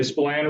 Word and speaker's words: Spillane: by uh spillane road i always make sure to pronounce that correctly spilan road and east high roads